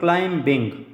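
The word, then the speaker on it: climbing: नहीं जाते for example क्लाइम बिंग spell आप देखिए सी एल आई एम बी आई एन जी इसमें बी साइलेंट है फॉर एग्जांपल आगे देखिए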